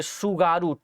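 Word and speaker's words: Tsugaru: है वह जो है सुगारू टी साइलेंट रहेगा भाई, सुगारू जलसंधि के नाम से जाना जाएगा, सुगारू स्ट्रेट के नाम से जाना जाएगा।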